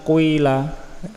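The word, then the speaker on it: قيل: Islam ya dengan diislamkan dhomah ismam itu gabungan antara dhomah dan kasroh dhomahnya sedikit kasrahnya agak banyak tapi secara cepat misalnya Kila Tapi bacanya quila quila dan itu ada kira-kiraah ada quilallah lebih panjang kasrohnya jadi satu huruf itu di dhomah dan di kasrah sekaligus ya bukan yang di domah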